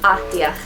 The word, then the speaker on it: Ahdiah: I loved how to pronounce this because I didn't want to sound like a fool. By Renee Ahdiah.